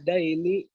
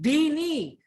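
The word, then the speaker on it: دين: Tankahul mar'atu li arba'i wa limaliha wa lihasabiha wa jamaliha wa lidiniha fadfar bidatid daini yadaika. Gimana? Rawahu Bukhari. Kamu bacanya masih salah. Fadfar bidatid dini. Din bukan dain, utang itu dain.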